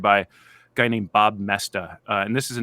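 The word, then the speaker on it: Moesta: who take notes mestas it's hard to spell pronounce this it's it it's m-o-e-s-t-a it's actually not hard to spell because the spelling doesn't look like the pronunciation Bob messed up I've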